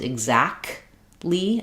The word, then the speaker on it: exactly: I don't want any release of air on that K, because I'm stopping the air for both the K and the T. Exactly. You're going to hear an unreleased K sound, and I'm going to release right into the L.